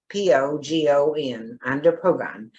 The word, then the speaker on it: andropogon: one is andropogon that's a little easier to pronounce a-n-d-o-p-o-g-o-n under pogon and it's called rain dance and it's inflorences